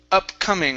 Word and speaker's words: upcoming: Let's go to the word upcoming. Right here, instead of op. Okay. It's up.